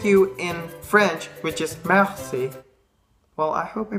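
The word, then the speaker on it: merci: trying to say so in West flamish you just pronounce it Mercy it's like with the Spanish a so mercy and also the word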